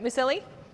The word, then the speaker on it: Musilli: I feel like I didn't actually ask you how you pronounce it. Musilli? That's perfect. You got it. Musilli.